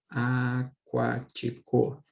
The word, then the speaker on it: aquático: Agora, ó, compara com a palavrinha aquático. Em aquático, esse QU aqui não é dígrafo, tá, pessoal? Por que que não é dígrafo, Dani? Porque eu pronuncio o U.